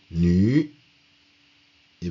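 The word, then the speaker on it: 女: première partie représente nue nu et venu c'est la femme ça se prononce nue ça représente la femme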